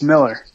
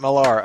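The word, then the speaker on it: Millar: It's Miller. Miller, not Malar.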